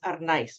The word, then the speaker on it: Arnaiz: The last name is pronounced Arnaiz. We roll the R.